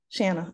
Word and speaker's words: Shanna: Shanna.